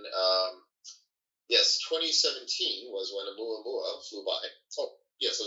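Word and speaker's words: ʻOumuamua: And then um yes, 2017 was when AmuA Mua flew by.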